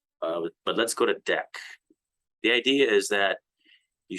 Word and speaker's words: deque: the deck interface and a deck pronounced deck interface is defined within